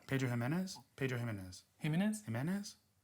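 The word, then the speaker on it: Jiménez: Jimenez? The accent is on the E at the end, so.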